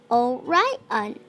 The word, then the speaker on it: Orion: the hundreds name is Orion you say it like this oh right on he can be seen